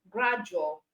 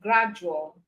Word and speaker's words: gradual: But for the J sound, even though it's still letter D, you can have word like educate, gradual. All right, you can have words like educate and gradual.